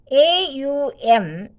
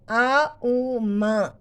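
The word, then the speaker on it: Aum: And Omkara is made up of 3 syllables, A-U-M in English and A-U-M in Sanskrit.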